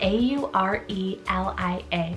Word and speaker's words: Aurelia: girls side i have the name aurelia spell a u r e l i a aurelia had to add this one as its